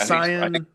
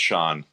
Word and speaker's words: Cian: Hopefully Yeah, it's not Cyan. I think it's pronounced Sean.